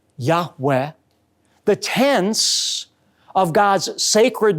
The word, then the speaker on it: Yahweh: Hebrew letters yud V oftentimes pronounced a breathy Yahweh the tense of God's